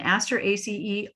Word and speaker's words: Asteraceae: One thing the naming committee decided on way back in the 80s was this ending for all family names, ACE.